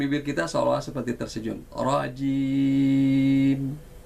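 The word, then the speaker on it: رجيم: Rajim. Maka sempurnalah bunyi i-nya. Kalau tidak, maka jangan kaget kita. Mungkin jangan-jangan itu bacaan kita selama ini rojim, rojim.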